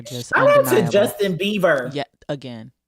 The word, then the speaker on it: Bieber: I to Justin Bieber. Yeah, again. And you will stop mispronouncing his name. You will stop mispronouncing his name. Bieber. Bieber. Justin Bieber. Not Beavers, I know, but Oh my God.